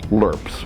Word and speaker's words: LRRPs: The small team deep penetration patrols of the US Army in Vietnam, which were known as LRPS, long range reconnaissance patrols, often pronounced LURPS, and how they evolved into the 75th Infantry Ranger Group.